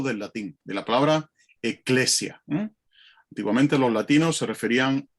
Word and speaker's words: ecclesia: Y en griego, curiosamente, se pronuncia igual que en latín. Lo único que la tilde la llevan a otro sitio, eclesia. Los latinos lo decían ecclesia y los griegos lo llamaban eclesia.